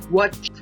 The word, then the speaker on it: watched: Por ejemplo, el verbo watch, que es ver, se pronunciaría como si tuviera una t al final, watched.